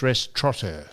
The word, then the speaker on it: restaurateur: The word is restaurateur. There's no N in restaurateur. What? Restaurateur? It's restaurateur. T-R-O-T-T-E-R. Just take the N out of it.